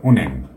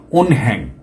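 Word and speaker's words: 은행: এই যে 1 নম্বর উন্যাং, এটা বলবে। উনহ্যাং, উনহ্যাং এটা এইরকম করে বলা মানে যে ঠিক না, কারণ নিয়ন বাচ্চার পরে হিয়ত আসলে এই নিয়নটা এখানে ডবল হবে, কারণ এই হিয়তটা নিয়নে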